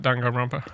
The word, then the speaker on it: Danganronpa: Danganronpa?